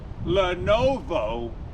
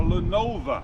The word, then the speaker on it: Lenovo: Lenovo or Lenova, depending on how you say it or how it's written in the US and overseas. The O is overseas, the A is over here.